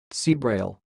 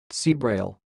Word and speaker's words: ceabhrail: of this word is sounds like see Braille see Braille and I will repeat again but slowly see Braille see Braille that's all thanks for